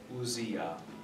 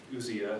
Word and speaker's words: ousia: It's spelled USI-schwa.